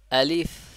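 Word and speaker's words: ألف: লেগে বাতাসটা বের করবেন আলিফ আলিফ আলিফ আলিফ আলিফ এইভাবে বারবার পড়বেন আলিফ তাহলে কি এর উচ্চারণ বা মাখরাজটা হলো যে উপরের দাঁতটা আছে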